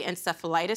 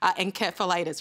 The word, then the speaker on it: encephalitis: we say it, because I know over there you say encephalitis, right? We do say encephalitis, but I have got a big sign in front of me with it's spelt with an S underlined so that I remember I've got to say encephalitis for you guys.